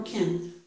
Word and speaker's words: can: I can hear you. This one is ah. I can't hear you. I can't hear you. Can't. My mouth is opening more for that vowel. I can't hear you. Okay. The biggest difference is the vowel sound.